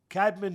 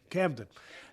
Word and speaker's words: Camden: Well, first of all, he comes from Cadman, New Jersey. Uh, am I saying it right? Yeah. Right. Camden.